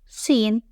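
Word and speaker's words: شين: The second one is Shin. Place 3 dots above the teeth in a triangular formation. It is pronounced like the English SH sound in shell.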